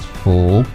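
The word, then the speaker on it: 福: In Chinese, it's pronounced fu.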